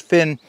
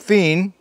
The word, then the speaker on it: phin: for using the vietnamese fin for making coffee i've also heard it pronounced fien fin fien p-h-i-n either way yeah so